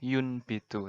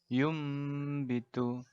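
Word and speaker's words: يُنْبِتُ: Kata secara letterleks tulisannya yun bitu, tapi kita bacanya yum bitu.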